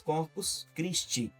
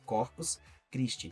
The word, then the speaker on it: Corpus Christi: o próprio nome diz corpus criste, né? Essa é a pronúncia séria. Corpos criste. Tem gente que fala corpos crist no final. não tem esse no final é Corpus Criste.